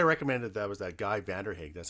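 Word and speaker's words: Vanderhaeghe: that's why i recommended that was that guy vanderhag that's how you pronounce it saskatchewan based writer and he wrote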